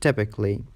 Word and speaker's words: typically: A is silent in the suffix ALLY. It's tricky because it looks to be a syllable, but it is not. For example, romantically, basically, musically, logically, artistically, and typically.